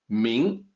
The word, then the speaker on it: 明: so in this case the pinyin is as close as we can get to the actual pronunciation in Mandarin mean let me talk about